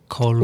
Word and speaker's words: Colbert: And it was the producer for the Colbert Report. Colbert. Or, as he puts it, the Colbert Report. Because he didn't even pronounce the T in the report.